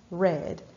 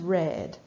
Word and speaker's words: read: Le verbe read à l'infinitif s'écrit de la même manière au participe passé, mais se prononce read. She's read.